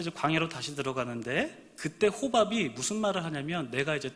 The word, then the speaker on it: 호밥: 호밥. 네, 호박이 아니라 호밥.